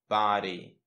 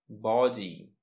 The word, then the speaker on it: body: В американском варианте будет звук «а». Просто широко откроем рот. «А». «Ба». Body. В британском варианте мы произносим с выпеченными губами. Получается «а». Body. Ну, написана буковка O, а в русском мы похожи на O, то есть ba, body, body, bo, body, fat body. Так говорят британцы, fat body, американцы.